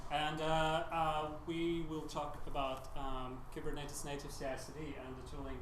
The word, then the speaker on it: Kubernetes: like to tell people that Kubernetes is a Greek word, which it is, and that most of people say it wrong. Can I pronounce it right? I think I know. Give it a go. Kubernetes. Close enough. It's Kubernetes. Kubernetes.